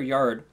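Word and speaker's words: Jord: I keep forgetting it's either Yord or Yard. I think it's Yode. I'm pretty sure it's pronounced Yode, actually. That's what it was. It was Yode.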